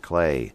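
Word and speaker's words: Klei: Anyway, they have a little note on there saying it's pronounced Clay.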